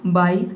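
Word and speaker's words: buy: बी का ब हो जाएगा और यू वाई का हो जाएगा आई, ये हो जाएगा आपका बाई।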